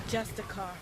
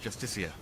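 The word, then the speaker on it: Justiciar: this ass clown he's a jestica a thalmor it's pronounced justicia she knows that even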